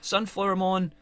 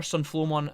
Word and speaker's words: Sunflowmon: Didn't know the lineup was going to take this turn, but anyways, Sunflowermon, or Sunflowmon, I should say.